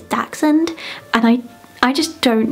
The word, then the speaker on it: dachshund: to research and so i always said dash hound but then i heard it's dachshund and i i just